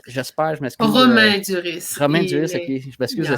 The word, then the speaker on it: Romain Duris: Il y a Roman Duris. J'espère, je m'excuse. Romain Duris. Romain Duris, ok. Je m'excuse si je le prononce pas comme ça.